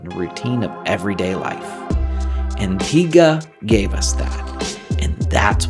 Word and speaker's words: Antigua: Antigua gave us that, and that's what makes it worth coming back to.